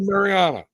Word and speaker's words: Marijan: right here we go marijan Mar and am I saying that right marijan it's a mar yeah it's it's silent the J is silent so Marana okay Mariana okay okay there we